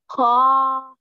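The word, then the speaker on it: خ: Kha. Yes. What type of letter is kha? It's the one you pronounce from your throat.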